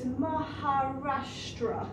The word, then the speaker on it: Maharashtra: difficult to pronounce so if you just split the word into parts so it's maharashtra state so it's in the maharashtra state now you don't really